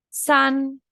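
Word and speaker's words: 三: El 3, san, se escribe así, son 3 palitos, ¿sí?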